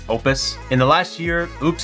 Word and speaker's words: Oupes: It's pronounced Opus.